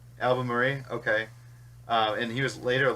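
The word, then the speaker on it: Albemarle: the 2nd Duke of how do we pronounce that el bair album Murray yeah the right album Murray okay and he was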